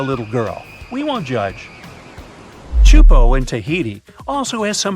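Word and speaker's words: Teahupo'o: It's pronounced Chupo, and it means broken skulls in Tahesian. Yeah, you heard that right, broken skulls. The waves at Chupo are massive and can reach up to 23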